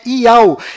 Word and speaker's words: Yahu: enviado do Criador, pois o nome do Criador é Yahu, e a última letra do seu nome tem som de H mudo, do qual não altera a pronúncia deste nome.